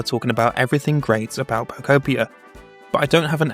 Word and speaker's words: Pokopia: It's pronounced Pokeopia. Not Pokeopia.